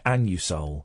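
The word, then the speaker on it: Anusol: I want some an it's pronounced an you Soul well these days you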